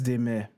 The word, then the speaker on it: Desmet: He's Belgian, which is why I pronounce his name Desmet. Y'all Anglophones, feel free to pronounce his name Desmet, okay? I'm just explaining why I'm not pronouncing it that way for now.